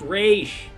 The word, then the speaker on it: Ra's: It's pronounced Raish.